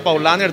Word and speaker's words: Paulaner: como paula na que se pronuncia paulaner todo alemán paulaner cálamo corregir una